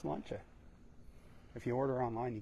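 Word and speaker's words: sláinte: e s l a i n t e pronounced slancha if you order online you get free shipping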